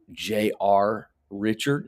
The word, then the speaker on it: Richard: deal little conversation about Jr Richard no s on the end of his name J.R Richard I just